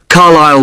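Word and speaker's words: Carlisle: s s l e you don't pronounce the S carile way and that's in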